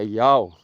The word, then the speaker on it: יהוה: que o nome é Jeová, lá atrás, quando você cruza informação, a pronúncia do nome na caverna 4 é Iau, né, no grego.